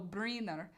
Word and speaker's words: Brynner: oh he's julie borisovich borisovich brinner pronounced oh brinar yul julie borisovic briner